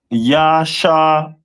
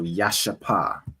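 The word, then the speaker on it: ישפה: And their stone is a jasper, which is pronounced in the Hebrew as Yashapa. So Yashapa. Yashapa. Yashapa, which is the jasper stone.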